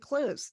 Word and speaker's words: Clowes: pronounced Clues.